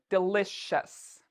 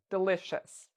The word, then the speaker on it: delicious: do we say delicious do we have a sh sound in here we do we say delicious so we're pronouncing it like this delicious um let's say this